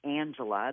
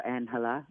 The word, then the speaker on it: Angela: me angel right and my name is Angela that's how it's pronounced uh or anela in in Spanish but onel I knew